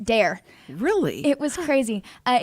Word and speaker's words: Daire: spelled was d-o-h-e-r I believe yes d-o-h-e-r still pronounced dare really it was crazy uh it's actually I